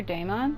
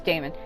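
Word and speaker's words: Daman: say his name um cuz it's not like d AI m o n it's D M A it's like the man it's almost what his name looks like it would be like the man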